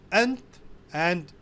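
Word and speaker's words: أنت: Now here the word ant, which means you as a male, can be pronounced in different ways. You can say ant, anta, all means the same.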